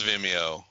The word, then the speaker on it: Vimeo: Go Ogle because how do you pronounce Vimeo?